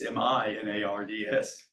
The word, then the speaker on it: Menards: they're working at Menards, it's spelled Menards. And I was thinking, my God, we're going clear out there by where you guys are, but it's Minards.